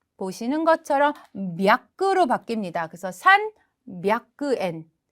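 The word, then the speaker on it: 三百円: 그러면 300엔은 산 샤쿠엔 이렇게 읽으면 좋을 텐데 300에는 살짝 발음이 바뀝니다.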